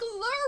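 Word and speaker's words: Lir: Although this lure is spelled like the Celtic deity for like storms and water, so it's actually like L-I-R, which made me really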